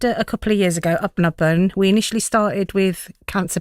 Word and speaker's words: Apnapan: How is it pronounced? Apnapan.